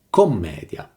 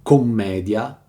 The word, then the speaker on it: Commedia: L'autore non ha mai intitolato commedia la sua opera, perlomeno non con la doppia M e l'accento sulla E.